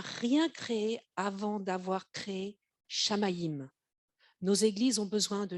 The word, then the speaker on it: Shamayim: Ça s'écrit S-H-A-M-A-Y-I-M.